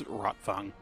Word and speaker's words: Rotwang: but i think it's rotfong oh what's up like wagner yeah yeah because with german the w is pronounced like a v they eavesdrop on a